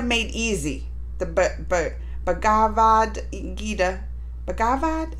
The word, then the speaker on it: Bhagavad: easy the bagavad gida bhagavad is how you say bhagavad gita made easy